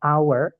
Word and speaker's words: hour: jam itu an hour walaupun tulisannya hour itu h pakai h ya teman-teman tapi karena bacanya h-nya tidak dibaca bacanya langsung hour pakai a Nah otomatis kita pakainya